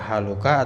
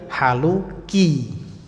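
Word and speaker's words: حالكِ: bahasa Arab tuh gitu kita baca dulu Ini bacanya kaifah Haluka atau Kaifa haluki lihat qorinahnya petunjuknya kata setelahnya ya bintu yaitu panggilan wahai kemudian kok pintu kan anak perempuan maka berarti haluki nanti kalau latihan-latihan juga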